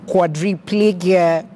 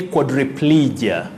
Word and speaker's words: quadriplegia: you pronounce this word quadriplegia quadriplegia how do you pronounce this willis now in the first place letter a takes the sound o chord chord then you say quadriplegia quadriplegia a tricky one